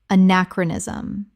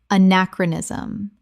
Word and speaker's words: anachronism: niche niche Word 99 anachronism common mispronunciation anachronism correct pronunciation anachronism five syllables with the stress on the second example The film was